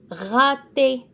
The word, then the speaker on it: rater: And then rater. So the A is an A in French. Rater, ER at the end is an A sound.